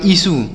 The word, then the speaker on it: issue: ISSUE, तो इसे क्या पढ़ेंगे? आई से पढ़ेंगे ई, और डबल एस से पढ़ेंगे श, और यू से पढ़ेंगे यू, बड़ाऊ की मात्रा पढ़ेंगे। तो इसे पढ़ेंगे ईसु।